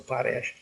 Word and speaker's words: Potash: so that's how we that's how we pronounce we pronounce a Poes and uh it's uh